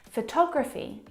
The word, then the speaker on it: photography: at the second example photography you can hear the pronunciation is different and that's because the second syllable is the stressed syllable in this word photography all talk photography compare